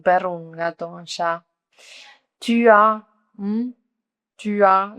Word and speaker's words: tu as: Tu as, tu as, no la escriben la S, pero no la pronuncian.